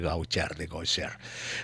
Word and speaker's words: Gaucher: Exacto, se pronuncia Gaucher, se escribe Gaucher para los oyentes curiosos que quieran buscar en el internet.